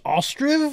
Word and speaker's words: Ostriv: game technically but yes this is Ostrom I think it's how it's pronounced Oh STR IV it's kind of a